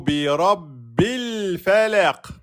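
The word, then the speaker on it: بِرَبِّ الْفَلَقِ: De bi, on passe bien au lem soukoun, on ne prononce pas la hamzat al-wasl. Fala, et ici, on met bien la soukoun, on ne prononce pas la kasra, et on dira bi rabbil falaq. On met la qalqala sur le qaf, et on met bien un temps et demi sur le lem. C'est pas le falaq.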